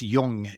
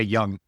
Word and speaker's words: Jung: He was because he was Swiss it's Yung but a lot of people say young. I did for years until I actually heard him say his own name and I was like oh I've been saying his name wrong.